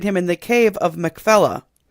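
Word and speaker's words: Machpelah: in the cave of Mcfella. So that Makfella or Mfella, however you want to pronounce it, um depends on whether you're pronouncing it in Hebrew or not.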